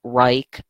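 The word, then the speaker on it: Wrike: now I didn't actually go ahead and use rike and it's spelled w R I K E it's a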